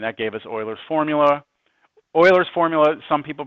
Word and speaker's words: Euler: Euler's formula, some people pronounce it Euler's formula, but right, have you heard Euler before?